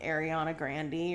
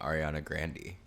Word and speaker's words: Ariana Grande: ago and saying that her name was actually pronounced like Ariana Grandy or something mhm what was up with that it is that's her name Ariana Grandy Grandy bout why cuz